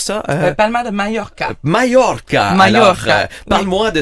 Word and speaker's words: Mallorca: Claudia, donc, Majorque, comment on prononce ça? Palma de Mallorca.